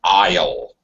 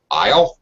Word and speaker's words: aisle: her okay very good uh one thing uh pronunciation it's Isle so yeah well not really if you remember